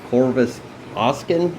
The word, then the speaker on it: Corvus Oscen: so I'm here with Corvis Austin that's how you say it okay got it right uh aka Joel yeah